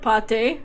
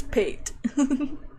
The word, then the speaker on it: pate: Not plate, but pate. Oh, Apollo's just fucking stupid. Never mind. He's ball. Oh, so I guess it's pronounced as pate.